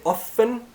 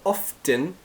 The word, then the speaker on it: often: often this word often you can pronounce it often without the T or often with the T it doesn't matter you